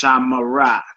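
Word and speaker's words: שָׁמְרָה: The perfect forms for she guarded and they guarded have 3 syllables. 3 syllables. It's pronounced shamara, shamara, and it's pronounced shamaru, shamaru.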